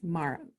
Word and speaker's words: Mara: like I love I said her name wrong for first mirror or Mara and gets Mara Mara you know your question